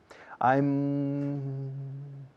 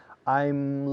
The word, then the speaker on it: I'm: I'm looking. Siempre cierro la boca con la M. Recordarlo. I'm looking. I'm looking. Siempre se cierra la boca con la M en inglés. Siempre.